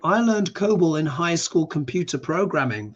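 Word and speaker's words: COBOL: to be try oh right yeah cobal yes pronounce Co cobal thank you so much for that uh Kevin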